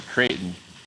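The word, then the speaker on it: Creighton: I'll just say Kraton.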